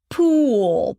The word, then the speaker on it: pool: The tense uh is a long vowel. It's called tense because you tense up everything when you pronounce this sound. Cool. Maybe except for the eyebrows. You don't have to tense the eyebrows. Pool. But look at my mouth. Right. The lips push forward, right?